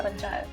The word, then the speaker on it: Panchayat: scale, including some of the discussions with the Panchayat, is that how you say it? Yeah. Panchayat.